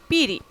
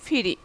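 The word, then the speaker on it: পিঁড়ি: আবার কি পিড়ি, এখানে লিখছে প, প কিন্তু অঞ্চলভেদে ফ হয়ে যায়, যেমন পিড়ির জায়গায় হয় ফিরি। ঠিক আছে, কিন্তু বর্ণটির প্রমিত উচ্চারণ হবে কি পই কিন্তু হবে।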